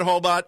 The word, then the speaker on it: Hobot: And to pronounce my name, it's like robot, but Hobot.